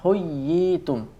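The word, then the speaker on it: حُيِّيتُم: Contoh dalam kalimat adalah huyyitum. Huyyitum. Ya tasdid atau ya tasdid berharokat kasroh diikuti ya sukun. Huyyitum. Nabiyina. Jadi membacanya agak ditekan, ya.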